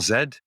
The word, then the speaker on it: Z: quantity that we call Zed or I guess Richard would call it z uh because that's how it's pronounced on that side of the Pacific um Zed is measurable